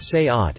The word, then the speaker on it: SEAT: for a fun comparison seat pronounced say ot is vw's spanish-badged value